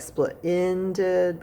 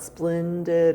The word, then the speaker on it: splendid: i know some people it's really easy to mix up the e and the i if it sounds like split ended but it's not splendid it's splendid so it's s p